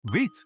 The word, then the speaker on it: Vite: Vitz pronounced as VIT is a modern build tool for web development.